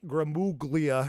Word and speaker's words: Gramuglia: what we're saying here it has a silent g and his last name